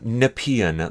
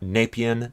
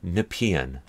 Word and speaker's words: Nepean: the parliament points uh Nepean that's how it's pronounced in the region not napian not nepi and uh not nepian it's Nepean the Hue with the